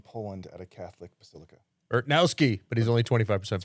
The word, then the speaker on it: Urtnowski: Urtnowski, but he's only 25% Polish. Pronounced Urtnowski. Urtnowski. Yeah, the W's are V's.